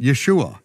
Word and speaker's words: Yeshua: there's no uh there's there's no other way to pronounce it Yeshua Yeshua it's written right there with the